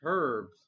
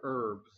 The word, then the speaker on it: herbs: reverse holo is a mixed herbs or herbs whether you want to pronounce the H or not you may play two